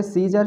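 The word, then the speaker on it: scissor: इसको पढ़ते हैं सीजर, इसमें भी देखिए सी से पहले एस है तो सी साइलेंट है। इसको पढ़ेंगे सीजर, सीजर मतलब कैंची।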